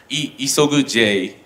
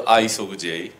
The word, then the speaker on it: ISOG-J: other and enlighten users it's pronunciation is e is over J not not the ISO J because this this pronunciation is double meaning in Japan go to her each